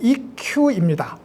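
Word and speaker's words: 一休: 일본에 일휴, 한일자 쉴휴자, 아마 일본 발음은 이큐입니다.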